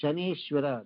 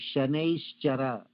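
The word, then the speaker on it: Shanaishchara: Now coming back to Shaneshwara, that is not correct. It is not Shaneshwara. The correct way of pronouncing it is called Shaneshchara.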